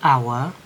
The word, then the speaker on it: hour: ya, sebuah rumah, an hour, 1 jam. Nah, jadi kan hour itu sama-sama H kan hurufnya, tetapi kita tidak pakai karena jam itu tidak dibaca hour tapi dibaca hour.